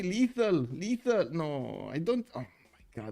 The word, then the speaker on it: Lethal: You keep saying little company. Lethal.